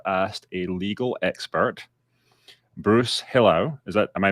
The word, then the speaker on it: Hillowe: so i have asked a legal expert bruce hello is that am i pronouncing it correctly yes yes thank you bruce hello um who is a new york state attorney